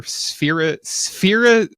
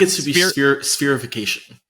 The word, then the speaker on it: spherification: do you pick for spherization? Jules, I got to add a syllable there. Spir Nope, it's not going to work. Spherification.